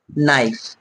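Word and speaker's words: knife: এন আই এফ ই আমরা কি পড়ি এটাকে নাইফ কে এন ও ডব্লিউ এল ই ডি জি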